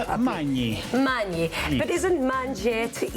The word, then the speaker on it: Magni: Magni. Magni. But isn't manger to eat? Is mangiare. Okay, so close. Close. GN is ñ in Italian, Ñ. so Magni.